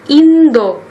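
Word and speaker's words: 인도: di pengucapan guys jadi bahasa Koreanya Indonesia itu tetap Indonesia kalau India bahasa Koreanya adalah Indo Indo Jadi kalau kalian mau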